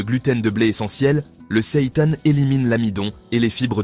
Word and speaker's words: seitan: Le Seitan. Oui, cela se prononce comme Satan.